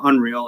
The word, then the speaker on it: UNRL: Well, Unreal is spelled UNRL, a big clothing brand here in